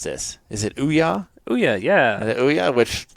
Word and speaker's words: Ouya: Okay, how do you pronounce this? Is it Ouya? Ouya, yeah.